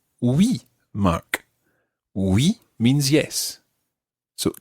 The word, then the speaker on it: oui: So, the word for yes is oui.